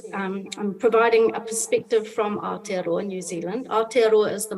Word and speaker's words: Aotearoa: And we would like to learn from Jenny his example of Aotearoa. How do you pronounce that? Aotearoa? Aotearoa. Yeah, Yes, Aotearoa.